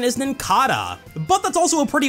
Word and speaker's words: Nincada: This Pokemon's official pronunciation is Nincada. No, it's not. This Pokemon's official pronunciation is Nincada, but that's also a pretty weird one, because the end of its name comes from Cicada.